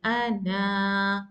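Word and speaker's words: أنا: I will pronounce this alif. I will say ana.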